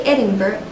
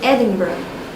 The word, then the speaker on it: Edinburgh: You hear people say Edinburgh, but it should be Edinburgh.